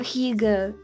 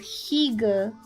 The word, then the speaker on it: hygge: You would like the concept of hygge.